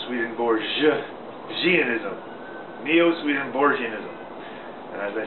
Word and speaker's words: Neo-Swedenborgianism: about Neo Sweden bism Neo Sweden bism is a nine syllable word NE o Sweden Bor gism it has a soft G like George Neo Sweden Bor ganism Neo swedenborgianism and as I said